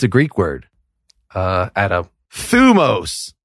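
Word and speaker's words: θυμός: Thumos, not thymos. Oh. Actually, ancient Greece doesn't have vowels, so it's like it's just scholar bullshit. But if you see that word thymos, it's thumos.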